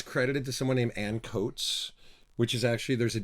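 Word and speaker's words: Ancoats: quote linear notes it's credited to someone named Ann coats which is actually there's a district inside of Manchester called encotes a-n-c-o-a-t-e-s so it's spelled the same way so um boy the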